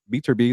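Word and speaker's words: Beterbiev: He's not going to go fight Bivol or Beaterbee.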